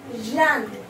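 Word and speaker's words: jaune: Yellow we pronounce Jan. J-A-U-N-E. Jan. And over here also J-A-U-N-E, because there is already one E over here, so we do not add E over here, okay? So there is already an E, so Jan. Both the words are Jan, pronounced Jan. The next one is green.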